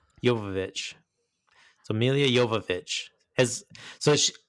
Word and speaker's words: Jovovich: Speaking of Milla, is it not how you pronounce her last name? Is it Joe? I want to hear you. Jovovich. Jovovich.